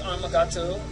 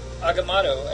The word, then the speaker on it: Agamotto: We start off with Amagato, the Agamotto, actually is how you say it, the worm.